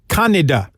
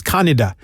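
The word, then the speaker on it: Kaneda: interesting fact is cañedo his name is actually pronounced kannada the japanese pronunciation of his name is kannada but when they made the movie because they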